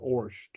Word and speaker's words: ort: Ort or Orsht? Okay, you'll hear different pronunciations. I pronounce it Orsht.